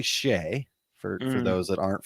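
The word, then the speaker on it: Skjei: of his studies but it's s-k-j-e-i and so i always loved to ask people to pronounce that last name when they'd see it because i screwed it up for the longest time so it's actually shea for for those that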